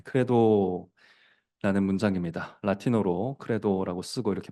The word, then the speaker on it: Credo: 네, 크레도라는 문장입니다. 라틴어로 크레도라고 쓰고 이렇게 발음합니다.